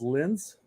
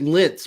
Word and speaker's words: Lens: getting at is that it's pronounced Lens. Lens? How do you do that? Lens, the French team. Lens. Okay, it's just Lens. Okay. Yeah. It didn't sound very French, so I thought you said Linz, which is also a team in Austria.